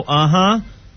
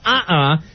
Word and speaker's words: uh-uh: uh-huh or yes uh-huh can I just correct you cuz you keep saying it wrong can I have a free one yeah go ahead this a free one this doesn't count it's no uh-uh yes uh-huh oh okay s and